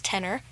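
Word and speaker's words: Tener: off the ground called Tenor Records. Okay. Now, this is spelled T-E-N-E-R, and not like the singer, T-E-N-O-R.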